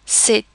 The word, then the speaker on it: c'est: We do not pronounce the T, but we would say c'est une maison. There we have actually pronounced the T because of the rule for a liaison.